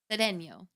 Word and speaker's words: Cedeño: I love saying your last name. Sedeno. That's right. Say it right. With the tilda.